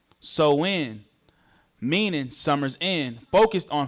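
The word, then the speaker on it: Samhain: The religious rituals of Sam Hine pronounced so in meaning summer's end focused on fire as winter approached.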